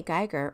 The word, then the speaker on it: Geiger: Emily Geiger, or Geiger, as the Charleston Geigers pronounce it, was a heroine of the Revolutionary War.